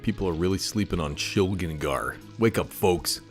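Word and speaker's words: Shilgengar: Now there's going to be the pronunciation bros in here. They're going to say, no, it's Shligengar. It's not Shligengar.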